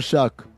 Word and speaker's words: Shough: Spell your name right or pronounce it right. One of the two. How does he spell it? I shouldn't have to. He spells it Shough, but I have to Google how you say it.